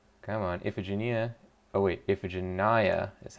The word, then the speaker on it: Iphigenia: last time oh come on iphigenia oh wait iphigenia is how it's pronounced apparently we just looked it up ethic